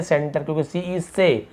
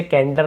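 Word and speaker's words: center: या फिर ए है सी के बाद ए तो हम इसे क्या पढ़ेंगे एस यानी की के उच्चारण देखिए सेंटर से हम क्या पढ़ रहा है सेंटर से कैंसर नहीं पढ़ेंगे हम क्या पढ़ेंगे सेंटर यहां पे हो जा रहा है सेंटर हम इसे कैंटर नहीं पढ़ेंगे वैसे ही देखिए सी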